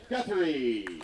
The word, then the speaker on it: Gurthie: Next off the tee from Gainesville, Florida, Garrett Gurthie. Oh, jeez. Uh-oh, Oh, no. Guthrie on him again. Oh, that's definitely not the way you pronounce Garrett's last name, but it's happened before.